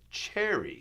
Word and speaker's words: chary: Another wonderful word, which you don't see very much of, but it's the word chary, C-H-A-R-Y. And it rhymes with wary, W-A-R-Y, and they're pretty close to what they mean.